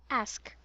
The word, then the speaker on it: ask: you pronounce this word ask ask ask it's a short a so it should be a ask ah ask very good so